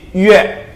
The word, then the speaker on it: yue: Pertama, U dengan E itu bacanya U, langsung aja ke E. Jadi yue, yue.